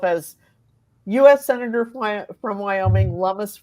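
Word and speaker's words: Lummis: US senator from Wyoming lamus rhymes with hummus so that's that's I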